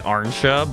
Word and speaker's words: Ansha: Say it like Arnsha, but with a little less emphasis on the R.